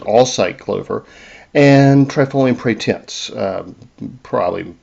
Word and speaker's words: Alsike: Trifolium hybridum, that's known as Alsike, yeah, that's the way you pronounce it, Alsike clover, and Trifolium pratense,